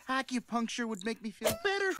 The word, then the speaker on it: acupuncture: Acupunk, acupuncture, acupuncture. Não pronuncie o O e nem o L nessa palavra.